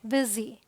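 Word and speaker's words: busy: इ साउंड देखते हैं तो बी यू एस वाई हम लिखते हैं यू बट बोलते क्या है बिजी सो यहां पर यू का साउंड देखिए ई आया अब ये देखिए आप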